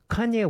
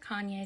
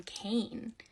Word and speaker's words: Kanye: has 45 likes though I used to pronounce his name Kane because I'm a little dyslexic and that's how I read it but I was part